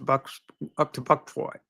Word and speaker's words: Bucksport: He's running for selectman up to Buckport. I know it's spelled Bucksport, but many people call it Buckport for whatever reason.